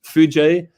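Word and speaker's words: foojay: So then you would have FOOJ, and you would have Fuji. So you wouldn't know how to pronounce it correctly. So we've added the A and the Y to help you pronounce it, and it's Fuji.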